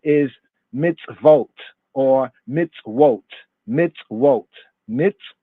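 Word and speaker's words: מצוות: a Mitzvah the plural of Mitsuwa right is mitzvotes or mitzvotes mitz wrote mits wrote right in the afro-semitic pointing but modern Hebrew mine we also circumnavigate that as in its vote mitzvot modern Hebrew mitzvot ancient pointing for our purposes where we going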